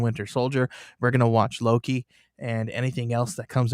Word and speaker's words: Loki: It starts with an owl and rhymes with pokey. Oh, Loki.